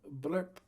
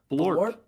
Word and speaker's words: Blorp: Is that how you say it? Blurp? Almost. It's an O in there. Blorp.